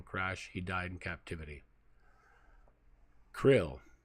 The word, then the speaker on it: KRLL: he died in captivity Krill here we go or krll or crl c-l-l-l-l or pronounced Krill Krill was the hostage